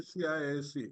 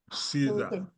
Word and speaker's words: CISA: Certified information system auditor popularly referred to as Caesar. Some people will say CIS. Uh-uh. It is pronounced Caesar, you know.